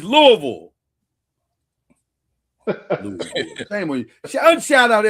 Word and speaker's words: Louisville: Well, why they say Louisville Slugger? Because they say it wrong.